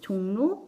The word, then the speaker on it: 종로: 자, 종로 발음 날 때 종로 이응에다가 리을이 더해지면서 니은으로 발음이 바뀌어서 납니다.